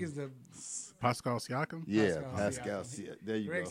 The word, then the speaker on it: Pascal Siakam: They got, I can never pronounce his name, Pacum. Greg is the Pascal Siakam? Yeah, Pascal Siakam.